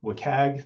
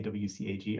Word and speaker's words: WCAG: You'll often hear people abbreviate this to WCAG. That's the abbreviation I use. You're going to hear a lot of other pronunciations of this as well. So shout out if you've heard WCAG.